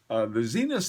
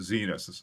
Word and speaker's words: Zenith: The Zenith El Primero, I think that particular one may actually be a limited edition.